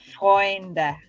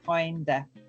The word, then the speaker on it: Freunde: So remember that Freunde, and remember to pronounce the E on the end for your F, Freunde.